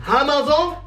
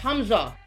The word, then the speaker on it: Humza: Hamazon? What? What the hell is a Hamza? You can't pronounce it any wronger. I didn't name you. It was your parents' fault. Bruv, it's pronounced Humza.